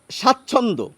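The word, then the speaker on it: স্বাচ্ছন্দ্য: না আবার দেখুন এই স্বাচ্ছন্দ এই যে শব্দটি এখানে ব ফলা রয়েছে শব্দের শুরুতে আমরা কিন্তু ব এর আলাদা উচ্চারণ করি না এক্ষেত্রে এই সূত্র অনুসারে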